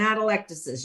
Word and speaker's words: atelectasis: prevent atelectasis.